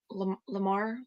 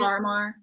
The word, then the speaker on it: Larimar: really did like was it Lamar? How do you say it? Larimar.